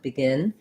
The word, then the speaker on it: begin: So you might have noticed when I'm saying them by themselves, begin, I'm using a little bit of an E on begin. But in reality, if I'm saying I'm going to begin to talk, begin, this E is actually more of an I sound.